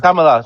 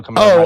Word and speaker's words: Kamala: Kamala. I always call Camilla.